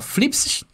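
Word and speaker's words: θλῖψις: Se lê ali, ó, flipsis, que é assim que se pronuncia, tá bom?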